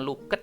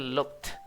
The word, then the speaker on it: looked: Nah, ini bacaannya bukan looket ya. Ini bacanya bukan looket. Nah, itu bacaannya looked. Ed-nya itu bunyinya cuman the doang. Jadi, you looked a bit upset. Jadi, bacanya you look t.